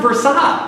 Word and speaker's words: Versailles: It's pronounced Versailles. Yeah, Versailles. That's how you say that.